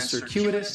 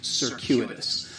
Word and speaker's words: circuitous: of an S sound circuitous the stress is going to be on that second syllable and that CU is